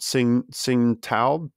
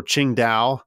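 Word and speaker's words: Qingdao: major cities uh called Sing Sing uh or Ching da I think that's closer to how it's pronounced today but uh singal uh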